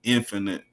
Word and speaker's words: Infanit: n i t i spell it photically correct infinite the infinite like the eight symbol I mean the eight